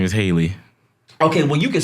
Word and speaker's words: Halle: I think it's Hallie. Haley, I thought it was Haley. Haley. Haley something. Never mind then. Lord, Listen, I got one. The Little Mermaid. that girl name is Haley.